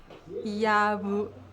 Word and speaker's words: jabuticaba: É um B onde você não encosta os lábios. Você só fricciona eles de leve. Então fica... Então, Yabuti. Yabuticaba. Cava. Yabu. Eu tô pronunciando bem? Calma. Vou tentar de novo. Yabuticaba. Isso, tá muito bom, parabéns. É muito difícil fazer o B porque no português nós tocamos firmemente os lábios, né?